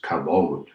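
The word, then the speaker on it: כבוד: The Hebrew word for honor here is kabod, or as it is sometimes pronounced, kabod.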